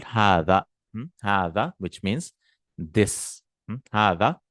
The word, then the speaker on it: هذا: But this is how it is written, but we pronounce it as hada, like this.